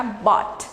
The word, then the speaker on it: bought: to buy, comprar, que o passado vai ficar bought, tá bom? Bought, não é bought, não, a pronúncia fica bought, tá bom?